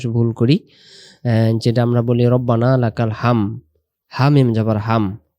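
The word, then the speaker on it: رَبَّنَا: রব্বানা লাকালহামদ। আমরা কি বলি? রাব্বানা। রাব্বানা যদি বলি উচ্চারণটা র অক্ষরটা রা হয়। আরবি অক্ষরের র অক্ষরের সহি শুদ্ধ উচ্চারণ র জবর র হবে না।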